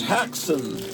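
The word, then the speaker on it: Häxan: We watched Haxon. That's how it's pronounced.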